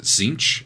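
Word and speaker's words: Tzeentch: is uh associated with I don't know how to pronounce it zinch I think is how you pronounce it one of the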